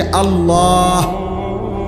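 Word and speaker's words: الله: শেষে আল্লাহ। শেষে একটা গোল হা আছে। ছোট হা।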